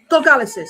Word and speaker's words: gargalesis: Oh, I said Gargales. Gargalesis, that's it.